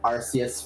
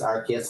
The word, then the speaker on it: Arceus: I called it Arceus for like 15 years before I learned that it was Arceus, and I switched.